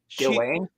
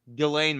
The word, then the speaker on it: Ghislaine: Ghislaine?